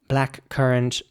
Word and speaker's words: blackcurrant: Blackcurrant, similar to blackberry, spelled B-L-A-C-K-C-U-R-R-A-N-T. And again, it's important to pronounce the C in the middle like a K. So it's blackcurrant, not blackcurrant or something, but black currant.